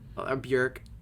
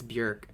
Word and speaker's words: Björk: BJÖRK. That's how you properly say her name. I went to Iceland, guys. It's BJÖRK. That's what the two dots for the over the O.